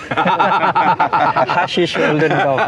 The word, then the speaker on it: Hessisch Oldendorf: I notice Mark that you say Hushes. Hushes. Hushes and I think that's super funny. Hessisch Oldendorf. I mean, it's I don't That's how we pronounce.